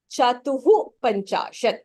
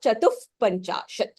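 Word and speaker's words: चतुःपञ्चाशत्: So chatuhu, you pronounce it because of upadmaniyah, which is visargaha followed by pavargaha. Visargaha followed by kavargaha becomes jihvamuliyah. Here it follows pavargaha. So, but for ease of pronunciation, you can say it as chatuhu panchashat or chatuf panchashat. Both would be right.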